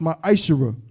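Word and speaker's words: מעשר: Means 10th in Hebrew and is pronounced ma'ashera.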